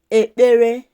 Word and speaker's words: ekpere: Pray is kpee ekpere. Then the past tense is kpere ekpere. It's important to pronounce it well. The sound there is pi. That double consonant pi. KP is pronounced as pi. Ekpere.